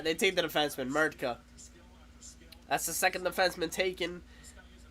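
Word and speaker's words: Mrtka: Radim wow, how do you pronounce it? Murtka.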